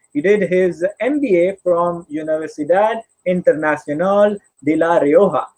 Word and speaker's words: Universidad Internacional de La Rioja: He did his MBA from Universidad Internacional de La Rioja. I pronounce that in Spanish because this university is from Spain, and he did his studies in strategic management and digital marketing.